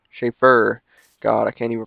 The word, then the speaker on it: Shafer: named this and the name of shaper not shaper schaffer god i can't even